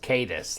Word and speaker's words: Caetus: at we nice like how are you pronouncing this and he says cadis like c-a-y-t-u-s that kind of thing um Micarta 14c okay